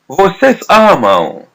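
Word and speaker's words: amam: Amar you guys love ammo. Ammo. Letter M is pronounced as W because the preceding letter is letter A.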